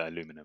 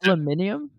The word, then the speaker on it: aluminium: You guys call it aluminum, innit? Yeah. I've What do you googled call it? this. Aluminium?